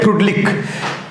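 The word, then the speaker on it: Freundlich: कैसे करता होगा, किस तरह से करता होगा, इसके लिए पढ़ना पड़ेगा, इसके लिए पढ़ना पड़ेगा आपको फ्रूडलिक, स्पेलिंग होता है FRENDAULIC, इसको बोलते हैं फ्रूडलिक, एन साइलेंट है, फ्रूडलिक बोलते हैं, फ्रेंडोलिक भी पढ़ सकते हैं लेकिन बोलते हैं फ्रूडलिक एडजॉर्प्शन आइसोथर्म।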